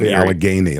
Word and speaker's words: Allegheny: Philadelphia, Alagini, Alug Guini, however you pronounce it. I can't pronounce it correctly and everyone makes fun of me. Alagany, like Alageney. There you go.